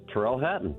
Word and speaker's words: Tyrrell Hatton: I'm not as good as uh Tyrrell Hatton. Am I pronouncing that correct? Yeah, Tyrrell Hatton. That's correct.